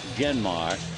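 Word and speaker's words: Jeanmar: Genmar Gomez, he spells that first name J-E-A-N-M-A-R, but it's pronounced Genmar.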